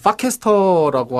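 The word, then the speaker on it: Farcaster: 디파이 이런 거 범죄에 관련된 거 제외하고 이제 파캐스터라고 하는 이제 디센트럴라이즈 발음이 진짜. 발음이 파입니다. F-U가 아니고 F-A입니다.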